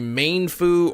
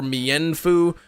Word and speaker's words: Mienfoo: English uh pronunciation guy mefu is a named that as Chinese origin the correct pronunciation would either be mfu or Meen Fu well I speak English so that's why I pronounce it the English way um I got